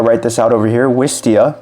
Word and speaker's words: Wistia: Wistia, basically how it sounds is spelled.